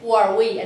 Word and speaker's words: Huawei: And if you don't know how to pronounce, just say Huawei and say it faster and become Huawei.